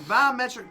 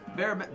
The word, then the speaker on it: barometric: Biometric pressure, same with anyone with surgeries, arthritis, etc. Biometric pressure. Barometric.